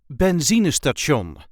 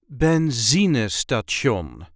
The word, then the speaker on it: benzinestation: a regular Dutch accent benzon or gas or petrol station in English this is the way we say Benz St Ben there is a light emphasis on the second syllable benon Ben benzon I hope